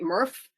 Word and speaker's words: MRF: the next slide springfield mrf mrf we call we pronounce it murph um and that's for